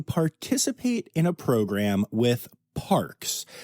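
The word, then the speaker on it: PaRx: So the Toronto Zoo is the first zoo to participate in a program with Parks, which is sounds like parks, but it is spelled P-A, then capital R-X, like prescription, which is a natural prescription plan that is being piloted right now in Canada.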